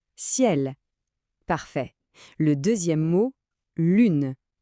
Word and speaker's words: lune: Le deuxième mot, lune. L U N E. Vous vous souvenez de notre son U ? Les lèvres dient en avant bien arrondi. Lune.